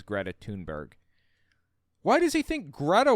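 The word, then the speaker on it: Thunberg: control anybody and also I think it's pronounced tunberg I looked this up I believe her name is Greta tunberg why does he think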